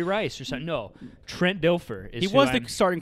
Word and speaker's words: Dilfer: Dilfer.